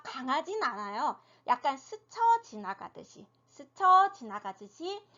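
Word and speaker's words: 四: 4가 스, 10은 시 이렇게 소리가 나요. 자, 4는 혀를 평평하게 해서 내는 음이에요. 평설음이라고 하거든요. 혀를 평평하게 그냥 우리나라 발음 그대로 쓰레기 할 때 이렇게 하시면 되고 10은 어떻게 돼요?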